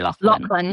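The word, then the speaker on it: Laughlin: And so some people who are listening will be familiar with Total Immersion, and Terry Lowlin, is that how you pronounce his name? Yeah, Terry Lachlan.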